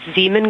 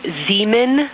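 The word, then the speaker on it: Zeeman: We believe that's Zean Crater. Oh, I floated away from the speaker. Say it again, please. We believe that that is Zean Crater.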